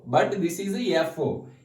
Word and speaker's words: Fo: Most of the persons will pronounce it is a F0, but this is a FO. F stands for factor, O stands for oligomycin.